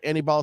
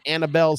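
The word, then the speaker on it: Aníbal: during the one playoffs where Annie ball Sanchez was Annabelle Sanchez like I'm sure he doesn't pronounce his name Annabelle uh and it'd be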